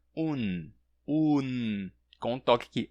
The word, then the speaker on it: un: O artigo indefinido un, em espanhol, acaba com N e se pronuncia un.